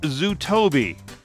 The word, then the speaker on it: Zutobi: Leo is the co-founder of an app called Zutobi. It's spelled Z-U-T-O-B-I.